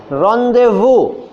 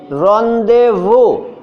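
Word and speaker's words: rendezvous: Just listen, रॉन्डेवू। अब से पूछा जाएगा इसकी स्पेलिंग क्या है, आप बोलोगे रॉन्डे, RONDEVU, रॉन्डेवू। ये लग रहा है? रॉन्डेवू की स्पेलिंग में सबसे पहली बात, ओ नहीं है उसके अंदर।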